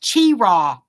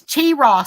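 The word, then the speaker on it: Cheraw: I don't know I don't drink it it's pronounced Chira it's Chira South Carolina okay never heard Carolina oh did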